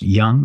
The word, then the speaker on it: Jung: Carl Jung is spelled Jung. If you've ever seen his name on a quote, I believe it's pronounced Young. It looks like Jung. Jung. Jung.